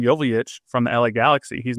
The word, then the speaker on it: Joveljic: And then at the start of last season, he said, my last name is pronounced Joveljic.